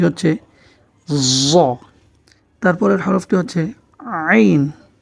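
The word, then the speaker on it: عين: হচ্ছে তারপরের হরফটি হচ্ছে আইন আইন গলার ভিতর থেকে আমরা উচ্চারণ করার চেষ্টা করি আইন গলার মধ্যে একটু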